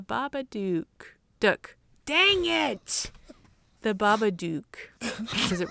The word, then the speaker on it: Babadook: duck dang it the babadook does it right no shoot it rhymes with book book book book baba dick duck